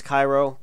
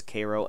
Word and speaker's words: Cairo: lot of metropolis Koo I know it says Cairo but the proper local pronunciation is Koo Illinois uh syon I'm